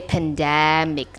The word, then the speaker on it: pandemic: word for example uh the word pandemic the stresses on the second syllable which is that so you have to say pandemic the stress is on the second syllable you don't say pandemic but you say pandemic so to get to